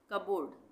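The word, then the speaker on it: cupboard: कप बोर्ड नहीं बोलेंगे, P silent है, कबोर्ड, कबोर्ड।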